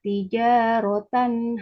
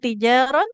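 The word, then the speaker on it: تجارة: Kemudian tadi satu huruf ada yang ketinggalannya bukan tijaron tapi tijaratan.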